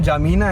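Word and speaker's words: N'Djamena: Chad नाम का भी कोई देश है, इनकी कैपिटल का नाम जामीना है, पर लिखने में थोड़ा N और D लगाते हैं, जो कि साइलेंट हो जाता है।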